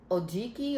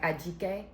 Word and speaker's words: Ajike: I don't want to mess up her first name, but it's like Ajike. I think that's the proper pronunciation. But when she said it on the thing, it sounded like she said Ojiki, but whatever.